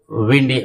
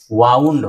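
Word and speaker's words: wound: Second form आप देखेंगे वाउंड होता है। वाउंड यही स्पेलिंग है वाउंड की। तो वाउंड अगर पढ़ेंगे तो लपेटना वाला मीनिंग हो जाएगी और इसको वुंड पढ़ेंगे तो वुंड यानी घाव।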